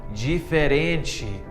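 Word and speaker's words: diferente: Spanish but in Brazilian Portuguese this is actually pronounced as a so for example the word different becomes G fare in Chi and fluent becomes flew in Chi hack number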